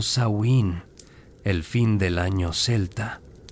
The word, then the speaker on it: Samhain: Este es Samhein, pronunciado Sain, el fin del año celta.